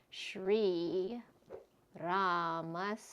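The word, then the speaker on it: श्रीरामस्य: Shri, this is a shra conjunct, and then a long e. Ra, long a, masya, and this is a long a here as well, so I put that a there.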